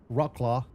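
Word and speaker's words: Wrocław: And uh we're flying from Nice, France up to uh Bobby told me the right way of pronouncing this is Rockclaw, Poland.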